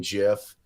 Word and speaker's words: GIF: I was like GIF, like the peanut butter.